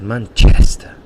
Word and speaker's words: Manchester: pronunciation from Manchester, because he says Manchester, and he really exaggerates the chest, and that's where the stress is in that word, in that noun.